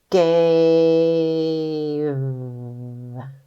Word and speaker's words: gave: making a vowel team e is silent a is going to say his name you ready to sound it out let's go gave sound it out again